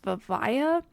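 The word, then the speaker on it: Vivaia: I think it's pronounced Vivaya.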